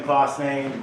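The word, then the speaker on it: Claasen: you Greg yes good morning I am klossain this is not me John Steen is our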